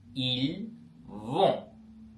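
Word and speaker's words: ils vont: வு ஜலே அவர்கள் போகிறார்கள் இல் வோம் இல் வோம் அவர்கள் போகிறார்கள் எல் வோம் எல் ஓம் ஓகே பாத்தீங்கன்னா இந்த மெய்ெழுத்துக்கள் கடைசியா வரும்பொழுது நாங்கள் உச்சரிக்க மாட்டோம். ஓகேவா அதனால கடைசிக்கு எல் ஓம் ஒருநாளும் ஓம் என்று வாசிக்காதீங்க ஓகே அப்படி இல்ல இல்வோ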